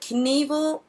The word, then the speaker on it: Knievel: Come on, we all know that Knievel was made up to rhyme with evil, right?